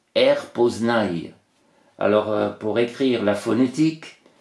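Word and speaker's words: R'POSNY: P O S N y et ça se prononce rpnaille alors pour écrire la phonétique c'est a i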